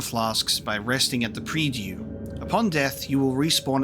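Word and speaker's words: Prie-Dieu: Pre-due. Pre-due. So it's a, there you go, pre-due. Pre-due. Saving your game, refilling your health and your flasks by resting at the pre-due.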